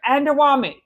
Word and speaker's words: Adewunmi: Adewunmi.